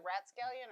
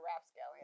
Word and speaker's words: rapscallion: Is it ratscallion or rapscallion? Rapscallion. I think I said it right the first time.